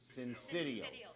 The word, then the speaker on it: syncytial: Syncytial.